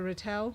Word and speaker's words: Rattle: it beautifully, and the Rattle saga. Rattle. He pronounces it rattle, which I think is probably more correct than me putting the emphasis on the wrong syllable.